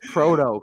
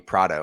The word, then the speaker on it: Proto: You still don't know how to pronounce my name. It's Proto. Come on. But I just think of profit, which is why I call you Prado.